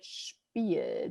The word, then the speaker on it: Spiel: And that is exactly how it should be pronounced. It's a sh sound So instead it's of like SCHP. You gotta think of like a CH in there before the P.